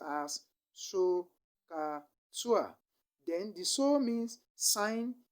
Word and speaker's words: SOHCAHTOA: for each of these trigonometric ratios, which is pronounced as SOHCAHTOA.